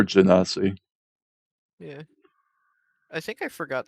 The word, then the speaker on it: Genasi: I heard it pronounced Ganassi before, I think. All right, Ganassi or Genasi.